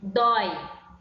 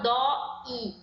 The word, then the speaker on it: dói: Por exemplo, dói, dói. O O e o I, eles se encontram na mesma sílaba, certo? Eu não falo dó i, falo dói, certo?